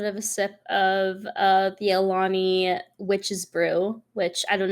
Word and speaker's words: Alani: I think it's pronounced Alani energy drink, and Witch's Brew is like a green apple caramel, and I'm obsessed with it.